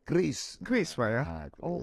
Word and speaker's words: QRIS: Kemarin saya sudah dikasih tahu sama Pak Gubernur BI, jangan bicara bacanya bukan QRIS tapi kris.